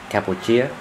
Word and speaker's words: Cambodia: here they pronounce it capuia I guess they pronounce it the French way and and this is